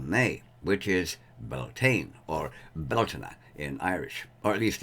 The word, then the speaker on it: Bealtaine: the first of may which is beltane or beltana in irish or at least in incarnate irish